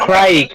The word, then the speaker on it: Craig: It's Craig with the C. Craig. Okay. So you pronounce it Craig instead of Craig. That would rhyme with Greg. Yes. Okay. Yeah. So it's Craig.